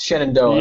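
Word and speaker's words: Shenandoah: don't know he inginia for a while it's shanono yeah okay sh what okay I'll take thank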